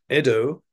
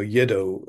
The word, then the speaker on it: Edo: resided in Kyoto uh so yedo uh should really be pronounced Edo even with the Y I think um GC